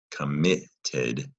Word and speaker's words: committed: The stress is on the middle syllable, mi. Committed.